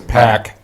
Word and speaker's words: PAC: How do they pronounce that? It's Pac.